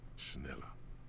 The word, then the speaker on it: Schneller: an embossed brand name schneller hey that was pronounced correctly schneller is a stationary